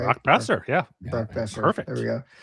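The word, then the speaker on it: Boeser: Brock Besser, yeah.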